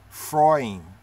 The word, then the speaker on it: Efraim: here we have efraiy efraim if you read the glyphs in yiddish they'll say frying frying you get it frying frying so the